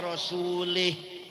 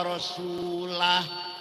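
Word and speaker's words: وَرَسُولُهُ: Wong maca Quran salah. Wa anna allaha bari'um minal musyrikin wa rasulih. Allah tidak melindungi orang musyrik dan tidak melindungi Rasulullah. Salah. Yang benar bacanya wa anna allaha bari'um minal musyrikin wa rasulah.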